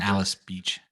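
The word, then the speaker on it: Alys Beach: so like 30A and Alice Beach so it's uh it's spelled a-l-y-s and um yeah it's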